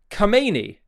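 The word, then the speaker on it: Khamenei: And it's now being reported by the times of of the UK that Kamani come as the the Persians pronounce um is making plans to flee to Moscow if the uh unrest in Iran intensifies.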